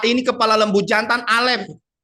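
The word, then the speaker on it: אלף: Berikutnya ada gambar A, ini kepala lembu jantan, Alef. Ya, ini hanya tidak keluar diucapkan, ini silent. Jadi berek begitu ya.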